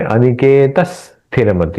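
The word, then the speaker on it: अनिकेतः स्थिरमतिः: अनिकेत स्थिरमति, उच्चारण में अनिकेत स्थिरमति, यहां त का और उच्चारण एक्स्ट्रा करेंगे ताकि छंद अच्छे से बैठे।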